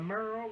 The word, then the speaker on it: Merle: "Yes, honey, that may be," I said, "but Merle rhymes with girl, so it's Merle, girl."